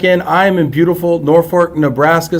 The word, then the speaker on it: Norfolk: I am in beautiful Norfork Nebraska spelled Norfolk pronounced Norfork uh is there a